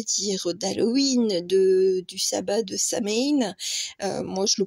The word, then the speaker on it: Samhain: Eh bien, donc bon, c'est le tirage, on va dire, d'Halloween du sabbat de Samhain. Moi, je le prononce comme ça.